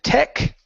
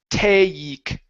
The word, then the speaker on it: take: Uh give me a long a sound. So here you said tech. Okay. Using an e sound instead of a. So we need a a dip thong here. So, I promise to take take some responsibility.